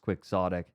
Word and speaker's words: quixotic: the sequel to Neuromancer I don't think it's proud kyotic i' I've heard it pronounced quixotic yeah here Google quick